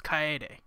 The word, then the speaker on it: Kaede: Kaede. Sorry, we've been saying it wrong the whole time. It's Kaede.